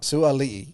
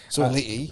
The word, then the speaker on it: Sua'ali'i: So how do I pronounce his name properly? Sua'ali'i. Sua'ali'i. I believe. Yeah, so. I think because I pronounced it in a YouTube video and someone called me out for it. So Sua'ali'i.